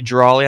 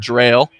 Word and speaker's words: Drawley: We just found out it's actually Drawley. I believe I've been saying Drail As myself.